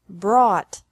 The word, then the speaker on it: brought: This can be spelled O-U-G-H-T or A-U-G-H-T, but the pronunciation is the same. Bring, brought, brought. Buy, bought, bought. Catch, caught, caught. Fight, fought, fought. Seek, sought, sought. Teach, taught, taught. Think, thought, thought. Remember that the G is silent in these verbs.